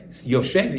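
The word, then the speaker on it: יושב: In order to show that it's Yoshev, you usually put a vav in the middle to show. It's true we're not reading the vav, right? Because it's just a silent vav.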